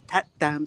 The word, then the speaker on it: That Dam: But it's actually called, on the map, when you look at it, it's called Tat Dam Stupa.